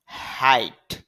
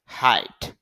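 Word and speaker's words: height: অর্থাৎ double E ল hill অর্থ হল গোড়ালি হাইট উচ্চতা মনে রাখবেন জি এইচ একসাথে থাকলে শুধু শুধু লিখায় আসবে উচ্চারণে আসবে না। হাইট শব্দের অর্থ হলো উচ্চতা।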